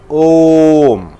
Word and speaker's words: Om: Center of the sound, A-U-M. What do you call? How do you pronounce? Om. Right? Om. The combination of A, U and M, it gives a sound called Om.